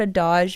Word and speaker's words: adage: And actually, I'm saying it wrong. I forgot about that. That's one of those words that I've mostly only ever read. And I heard somebody say it recently. It's adage. I know adage. You know adage. I know adage. But it's spelled with only one D. Adage. And so I thought it was adage.